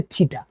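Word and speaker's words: θήτα: এই এঙ্গেলের যে নামটা দিলাম সেই নামটাকে উচ্চারণ করব টি এইচইটি থিটা বলে।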